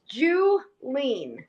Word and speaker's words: Julene: Yeah, it's Julene. Julene. Like All right, awesome. Skinny, yeah, like a skinny Jew. I can say that I'm Jewish. But like phonetically, it's how people remember it.